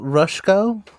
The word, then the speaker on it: Rushko: you pronounce his name rushko like rush I have Rush code